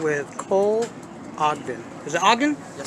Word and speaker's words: Ogden: Is it Ogden? Yes, Pronounce sir.